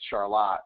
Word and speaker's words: Charlotte: work with up in Charlotte, Michigan, and little side note, it's funny, when you're in Michigan, it's Charlotte, but when you're in North Carolina, like Jeff, it's Charlotte, but it's still spelled the same.